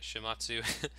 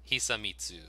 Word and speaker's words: Hisamitsu: Shimatsu? Hisamitsu.